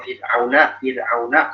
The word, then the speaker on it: فرعون: Kalau misalnya Fir'auna, sini rohnya tipis ya. Fir'aun. Karena roh sebelumnya kasroh.